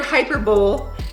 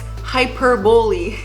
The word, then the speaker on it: hyperbole: they said oh joss the word hyper bowl is pronounced like this hyperbole yeah you're gonna realize